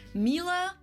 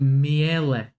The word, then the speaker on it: Miele: Listen, uh, I would pronounce it like as a Latvian, I would pronounce it Miele, Miele, because I would pronounce every, uh, letter.